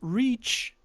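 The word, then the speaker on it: riichi: you call declare richi which is basically a ready right it's the ready uh this yaku is often called reach because it's Japanese name for phonetically similar to the English word okay makes sensei uh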